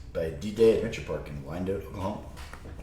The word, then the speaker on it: Wyandotte: D-Day Adventure Park in Wyandotte, Oklahoma. Hey, you said it right! I did. Wyandotte. Wyandotte. Let's kick it off.